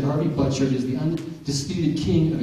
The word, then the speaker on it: Butchart: how do you say your name isn't it Butcher and uh he said no it's but chart I'm like hm he said it's Scottish well